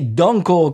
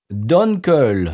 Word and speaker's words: Dunkel: Oui, alors, attention, ça n'est pas prononcé Dunkel, ni Danko, comme ils m'ont dit. Ouais. Attention, Donkey. Parce que... ouais, non. Alors, ça se prononce, attention, monsieur, Dunkel.